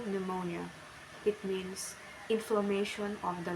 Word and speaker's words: pneumonia: PN, pronunciation N, example pneumonia.